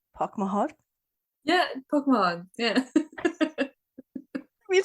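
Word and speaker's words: póg mo thóin: one okay see if I say it right park my heart yeah Pokemon yeah we saying that all the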